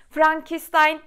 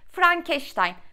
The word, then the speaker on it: Frankenstein: öncelikle şunu söylemek istiyorum Bizim her zaman için şekilde bir telaffuz mevcut Frankenstein Hayır Frankenstein değil bu bu şöyle tek millet sanırım biz ismin doğru telaffuzu Frankenstein İngilizce öğretmeni gibi Frankenstein Arkadaşlar şöyle bir gerçeği